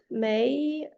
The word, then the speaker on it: May: next Question is from May um hope I pronounce your name correctly. Can you are you able to unmute yourself? Yeah, please come to the stage. Yeah, perfect pronunciation like the month.